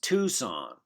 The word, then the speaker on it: Tucson: Excuse me, Professor Yu, I think it's pronounced Tucson.